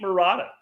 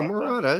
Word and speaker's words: Morata: they want to keep murata i mean no i'm probably butchering the actual proper pronunciation no morata it's morata i'm not rolling my r enough i guess yeah